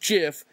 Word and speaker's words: GIF: however they are wrong it is a soft g pronounced jif end of story wow and